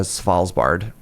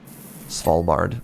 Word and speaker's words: Svalbard: I didn't I didn't connect that with the Salsbard. Pardon my pronunciation. Swallbard. There you go.